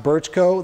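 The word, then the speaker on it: Brčko: If you see in the top BRCKO, that's pronounced Birchko, that's where I was stationed.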